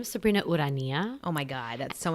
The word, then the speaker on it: Ourania: you say it so my name is Sabrina wood Ania oh my god that's so much better than